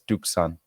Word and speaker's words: Tucson: Hispanic friends who also they also say to like Tucson is dukon I always call it tuxen people look be weird that's but that's how I I learned how to spell it I thought the S came before the C so when I started saying tuxen I started learning how to spell it properly exactly well anyways we